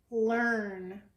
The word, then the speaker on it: learn: can you read that learn learn it actually sounds like they use sound learn like turn but it's spelled with an EI l EI our